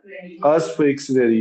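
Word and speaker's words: usufructuary: अब देखो यूफ्रेक्सरी कहते हैं इसे, अस्फ्रेक्सरी मोर्टगेज, ठीक है ना, अस्फ्रेक्सरी, इसमें यू साइलेंट है बीच का।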